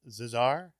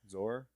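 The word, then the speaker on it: Szohr: main cast Jessica Z zazar probably saying that name wrong Zar zor zor Zar it's like it's like s z r I believe zor Z yeah yeah she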